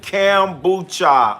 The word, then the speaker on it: kombucha: How you pronounce it? Kombucha.